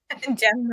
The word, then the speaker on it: Jem: Although Jem actually does feel our emotional and physical reaction. Jem does what? rhyme with Bem. Oh, Jem rhymes with Bem.